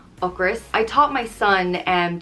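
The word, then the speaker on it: ocras: on me a chris is hunger and is pronounced och ris ocris i taught my son and to use this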